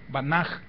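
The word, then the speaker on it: בנה: raíz que es baná, con H al final, que se pronuncia como J, banaj, la que nosotros ponemos como sin sonido, la muda que decimos, banaj.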